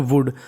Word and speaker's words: would: ऐसी हमारी मीनिंग है WOULD, उसे पढ़ते हैं वुड।